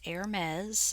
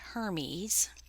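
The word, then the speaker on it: Hermès: Yes, it's pronounced Hermes, not Hermes.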